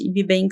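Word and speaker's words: Yby Bank: importante que é o IB Bank para quem não conhece e queira procurar também nas redes sociais na internet ibank se escreve yby Y Bank que é o primeiro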